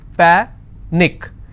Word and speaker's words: panic: Panic is panic, which means I will stress on pa and it's pronounced as panic.